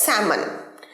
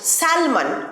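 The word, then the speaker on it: salmon: পাওয়া যায় সেটা হচ্ছে স্যামান এটাতেও এল আছে স্যালমান অনেকেই আমি 10 জনের মধ্যে নজনকে বলতে শুনেছি স্যালমান মাছ কিন্তু ভুল এটার সঠিক উচ্চারণ স্যামন স্যামন এল টা completely silent স্যামন ডু you like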